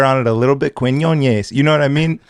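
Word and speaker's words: Quiñones: Quinones. Quinones. There we go. Ez or Ace? Because I'm trying to like pay respect and put the Mexican flair on it a little bit. Quinones.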